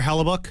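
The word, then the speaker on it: Hellebuyck: How do you pronounce that h that goalie's last name? The hot goalie we got, Connor Halabuk.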